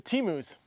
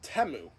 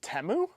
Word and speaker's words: Temu: kit so I guess it's time to do teus um hey spackman it's actually pronounced temu it's temu yeah remember the Super Bowl they corrected the